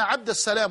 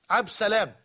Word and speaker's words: عبد السلام: لفته في النطق فقط قالت بان الناس حين ينادونها على عبد السلام لا يقول لنا يا عبد السلام وانما عبد السلام عبس عبسلام عبد السلام هي وهذا خطا لا شك لكن ارجو الله تبارك